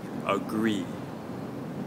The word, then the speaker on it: agree: Now for agree, we'll put the stress on the second syllable.